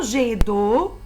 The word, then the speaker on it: jet d'eau: Dans le mot jet d'eau, j'entends la syllabe G, même si j'écris G-E-T. Je prononce G.